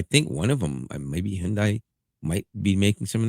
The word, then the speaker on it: Hyundai: And that is, and you can laugh all you want, but Kia and and uh Hyundai, and that's how you say it, by the way, Hyundai.